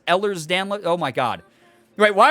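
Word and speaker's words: Ehlers-Danlos: i'm getting so many it's pronounced eller's download oh my god wait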